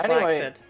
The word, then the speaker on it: flaccid: The thing is that flaccid is not pronounced the way that you say that. That's cap right there. That's some cap. I've never heard someone cap harder in my whole life. No, it's pronounced flaccid.